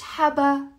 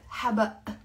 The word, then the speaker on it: حبق: حبق. يعني basil. مش حبا. لا غلط. حبق. Okay.